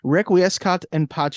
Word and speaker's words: requiescat in pace: So you have an idea of how it's pronounced. Let me pull that up. Requiescat in pace.